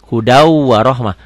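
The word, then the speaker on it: هُدًى وَرَحْمَةً: Hudau warohmah. Tulisannya hudan, bacanya hudau.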